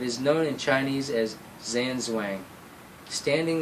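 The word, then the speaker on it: 站桩: a tree it is known in chinese as zanzuang standing like a steak or standing like a tree it is pronounced jan zhang or in southern china china jam jon this is the system to which you are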